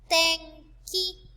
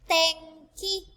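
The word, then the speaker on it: てんき: Again, it is pronounced or ng before the sounds in ka and ga rows. For example, tenki, tenki.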